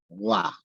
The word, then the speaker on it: Roy: And my name, by the way, is French, so it's Roy. Roy.